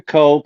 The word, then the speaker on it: coke: It's Coke, like the drink.